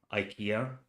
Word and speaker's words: IKEA: Um, we have to return something to IKEA or IKEA if if you choose to pronounce it that way.